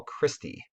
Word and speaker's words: cristae: which is folded into what we call christie okay not a person but it's you know pronounced cristae the inner membrane creates